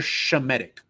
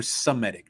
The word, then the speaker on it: Semitic: So me, you, and your father, We're Shemitic. We're Semitic now. That's how they say it now.